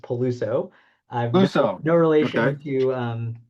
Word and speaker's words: Peluso: So um so yeah just a minor correction my last name is pronounced Paluso.